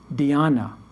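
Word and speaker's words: dhyana: means meditation chan comes from the sanskrit word diana d-h-y-a-n-a you see the etymological similarities diana chan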